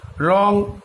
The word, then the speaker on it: wrong: হ্যাঁ, রং, WRONG, রং, এখানে ডাব্লুর কিন্তু কোনো উচ্চারণ নেই। হ্যাঁ, এগুলো কিন্তু মনে রাখতে হবে।